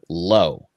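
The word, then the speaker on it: Logue: uh kevin smith uh kirby snead and zach lowe uh i'm pretty sure it's pronounced low even though it's like lugi like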